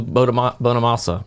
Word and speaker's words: Bonamassa: what was it uh joe bonamassa is how you say it i'm not sure guitar player my wife's